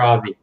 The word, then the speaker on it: Avi: Is it Avi or Avi? It's Avi. It's like Javi without the J.